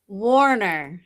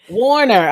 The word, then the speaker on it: Wohner: Wohner. Warner. Okay, I knew it was Warner, but I didn't want to mispronounce it. Yeah, I know it's spelled a little differently, but you say it like Warner Brothers.